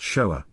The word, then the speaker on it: shoah: when one considers that the word is shinwa aleph, with the vowel wa producing the O sound and the vowel aleph conveying the same sound as an A in English. Therefore, it was originally pronounced shoah.